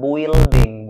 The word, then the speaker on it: building: islands oke yang ketiga itu bacanya bukan building bukan building huruf u enggak usah kalian hirauin engak usah dianggap ya kayak hidup kalian gak dianggap cara bacanya itu building building building huruf u enggak usah dibaca Berikutnya ini ini cara